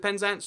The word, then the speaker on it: Penzance: So you get places like, this is Penzance, not Penzance. Why is it Penzance? Just, extra emphasis goes there all the time for reasons we're not too sure about.